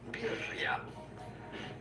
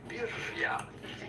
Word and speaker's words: birria: How to pronounce birria. Birria.